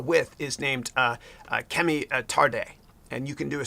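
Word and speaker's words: Tade: is t uh t-a-d-e but it's pronounced tarde yeah yeah and her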